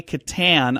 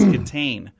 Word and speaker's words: Kitaen: Tawny Kitaen, I've always said, but it's Kitaen. Did you know that? Yeah. I pronounced her name wrong.